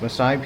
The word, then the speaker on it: Maasai: So believe it or not, the Maasai, I believe it's pronounced, Maasai people of Kenya drink bull's blood mixed with milk in the belief it will strengthen and protect them from evil.